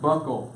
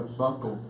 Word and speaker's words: buccal: see see right now it's pronounced buckle like a buckle belt buckle okay I asked doodle